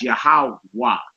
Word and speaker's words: Yahweh: the Most High is Yahweh. The last letter you hear pronounced is the W, the Wah. You don't hear the hey at the end of it.